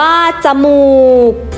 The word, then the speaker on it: จมูก: เสียง คือ พยางค์ หลัง ให้ อ่าน ออก เสียง วรรณยุกต์ ตาม เสียง อักษร กลาง หรือ อ่าน เหมือน มี หอ นำ พยางค์ หลัง องุ่น อ่าน ว่า องุ่น จมูก อ่าน ว่า จมูก ก็ จะ รู้